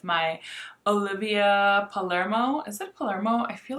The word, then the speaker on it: Palermo: go back with my olivia palermo is it palermo i feel like i'm always saying her name wrong yes olivia palermo and she released three lipstick shades i picked